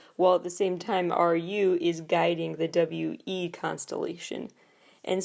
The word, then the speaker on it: RUI: WeI, one of the newest K-pop boy bands, officially announced their fandom name, which is spelled R-U-I. I believe it is pronounced Ru-I, as their name is W-E-I, pronounced WeI.